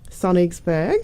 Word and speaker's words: Sonnigsburg: We've roped you in to talk about this amazing new show on Channel 31 called Sonnigsburg. Beautiful. I couldn't stop. Correctly pronounced.